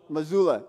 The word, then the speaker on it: Mazzulla: Mazzulla? What is it? Mazzulla.